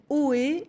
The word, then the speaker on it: Oohee: la solution elle s'appelle haut et et son concepteur etienne poireau bourdin est avec nos bonjour monsieur alors oui ça s'écrit au haut a eu un peu comment quand on interpelle quelqu'un au et comment est née